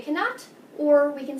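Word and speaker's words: aux: A plus les equals o. You still pronounce o like the letter O.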